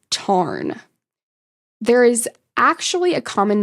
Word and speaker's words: Tairn: Now, there's been some critique of Rebecca's use and pronunciation of the Scottish Gaelic words because Rebecca pronounces it Tairn, but in Gaelic, it's Tarn.